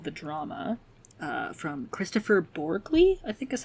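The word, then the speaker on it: Kristoffer Borgli: new a24 movie called the drama uh from Christopher borley I think is how you say his name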